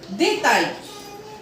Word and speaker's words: détail: Now, the point number 22 says that if A-I-L come together, the sounding will be I. If A-I-L comes together, the sounding will be I. For example, détail, détail, travail, travail.